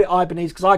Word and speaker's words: Ibanez: here's another one see i pronounce it ibanez i've always pronounced it ibanez